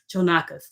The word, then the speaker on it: Chonacas: And I saw a lot of your info, but no pronunciation of the name. So I'm like, I'm looking at it. Chonacas.